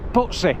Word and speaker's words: Pudsey: Locals tend to pronounce it Pudsey, as if it was a T, rather than Pudsey with a D.